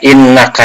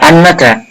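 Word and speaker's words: إنّ: Nah, innaka itu dibaca innaka, tidak annaka.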